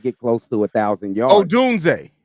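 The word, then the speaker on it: Odunze: We're actually, the way we speak about these kids, like, we expect Rome Duzier to come in here and get close to 1,000 yards. Oh, Dunze. Stop adding a syllable, bro.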